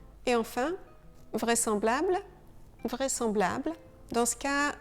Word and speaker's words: vraisemblable: Et enfin, vraisemblable, vraisemblable. Dans ce cas, le S devrait vraiment se prononcer ZE, mais on prononce SE. Vraisemblable.